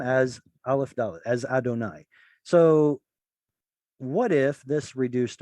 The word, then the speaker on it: Adonai: It's abbreviated, but it's there, Adonai. We're supposed to read the name as Aleph Dalet, as Adonai.